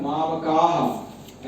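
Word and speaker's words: मामकाः: वो मामका का उच्चारण मामकाह ऐसे उच्चारण होगा।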